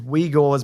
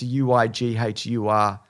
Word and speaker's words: Uighur: i looked it up i think it's we gores but it's pronounced uighur uh muslims who have